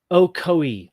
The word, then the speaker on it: Ocoee: Ocoee, thank you, says Stephen Crumley. You nailed it. Well, okay. It's a hard C then.